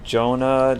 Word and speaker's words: Joana: yo well I mean you could pronounce the name like in different ways I like to say Jonah just because it's like well I'm a dude playing a female character and Jonah sounds the least feminine out of the three